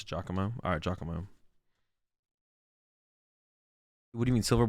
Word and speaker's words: Giacomo: Giacomo? Oh, it's called you pronounce it Giacomo? Alright, Giacomo.